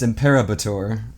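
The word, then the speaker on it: Imperobator: Improbator, okay. but it's Imperabator. That's the way it's spelled.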